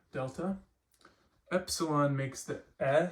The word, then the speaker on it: epsilon: So this makes the sound eh, as in get, G-E-T, get, like that kind of sound. Epsilon, and the word we're going to use for this is ethnos.